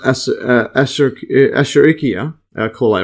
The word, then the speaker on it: Escherichia coli: So electron micrograph of this is an Escherichia coli, or actually I think it's pronounced Escherichia coli, or E.